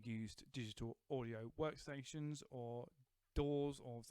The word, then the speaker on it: DAW: digital audio workstations or doors or think some people have pronounced them the dowels I choose door but the thing I